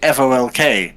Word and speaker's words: folk: do oh you know you don't say f-o-w-k you say f-o-l-k Folk you just don't pronounce that you definitely do you definitely do pronounce the ill not not here madhouse